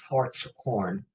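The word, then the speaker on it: Hartshorne: Okay, so their pronunciation, no matter how we say it, was Hart's Horn, because it's the horn of a stag.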